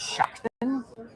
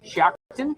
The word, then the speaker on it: Shiocton: Maybe a five maybe a five and those communities uh There's one that I always mispronounce, Shiocton. Yes. S H I O C T I O N, Shiocton.